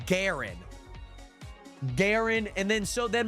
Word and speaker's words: Garen: Okay, there's guys, there is a hero in League of Legends called Giren.